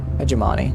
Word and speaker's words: hegemony: Hegemony. What am I saying? I'm saying it right. Hegemon. Well, now I'm in my head about which is the right way to say it. I don't know.